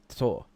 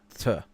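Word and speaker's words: Þ: basically pronounced, as far as I know, Tor. It's pronounced Yeah. Tur.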